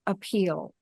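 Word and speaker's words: Apeel: from I'll spell it if you say it you want to say appeal but okay capital a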